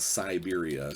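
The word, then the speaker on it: Cyberia: It's called Siberia, spelled like cyborg.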